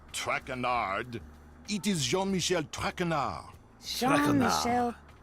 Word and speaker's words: Traquenard: tongue butchered while I eat. As for my name, not Traquenard.